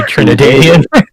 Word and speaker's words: Trinidadian: You Trinidadian.